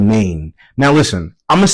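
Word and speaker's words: Nain: So, this looks like rain, and I'm going to say it like rain because it looks like rain without without the R. It has an N instead. So, it's Maine. Um, Jesus went to a town called Maine and his disciples and and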